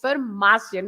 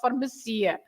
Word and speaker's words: farmácia: So if as I started to say, if there is an accent, no matter what, the stress is where the accent is. So yes, farmácia has got an accent on the A, so that's why it's farmácia, not farmacia.